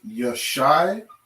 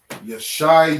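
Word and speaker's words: ישעיה: okay book of isaiah isaiah in the hebrew is you're shy you're shy yeah all right let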